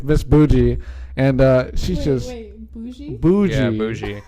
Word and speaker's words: bougie: And the first thing she told us is it's not bug-eye, Yeah. it's bougie.